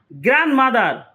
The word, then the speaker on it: grandmother: Grandmother, D is silent.